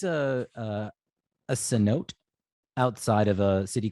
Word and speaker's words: cenote: But it is. It's like cenote.